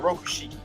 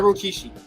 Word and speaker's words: Rokushiki: My bad, Rokushiki. Not Rokishi. I love saying Rokushiki. That's how you say it, guys.